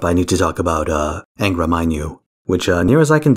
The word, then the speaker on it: Angra Mainyu: Now, before I wrap up, I need to talk about Angra Mainyu, which, near as I can tell, is actually pronounced like that. Hard A.